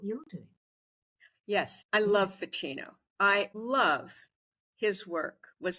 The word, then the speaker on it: Ficino: about um I'm not quite sure if I'm pronouncing this right but the priest and Scholar F the word facino a chat called facino who was a priest in the oh ficino ficino yes yes marcelio fucino yes and he did exactly what you're doing